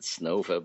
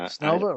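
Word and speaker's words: Снова: I think they pronounced it Snova, but Snova.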